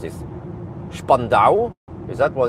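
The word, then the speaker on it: Spandau: It seems that I mean it's spelled spando but Germans man everything is s is sh. So yeah. So, I'm guessing it's Spandow, but um okay.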